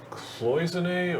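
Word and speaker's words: cloisonné: So is that pronounced cloisonne or It's cloison?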